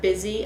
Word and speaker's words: busy: asking the children, like the word busy under the U, what part of this word makes the I sound and where should we put it?